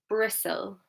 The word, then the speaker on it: bristle: Which letter is silent here? I'm going to say it in a second for you. It's bristle.